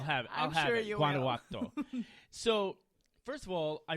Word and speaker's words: Guanajuato: Guanajuato. So that you say a hard G in the beginning? No, just think about Guanajuato.